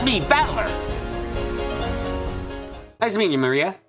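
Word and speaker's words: 真里亞: remember her name is written of course is pronounced Maria third character looks like a cross which is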